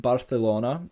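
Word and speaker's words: Barcelona: is a feature where C and Zeds are pronounced with the dental fricative so in other words a th sound um like thought in English as such words you might commonly kind of use like chorizo and barthelona and should both have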